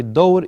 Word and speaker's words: الدور: في الدور, you don't pronounce the lam because of the shad on the ra.